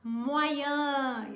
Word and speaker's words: moyen: Se eu quero falar médio, então eu vou falar moyen. Isso aí, ó. Olha lá, hein? Moyen.